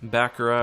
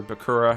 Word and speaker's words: Bakura: Bakura, or Bakura, however you like to say it.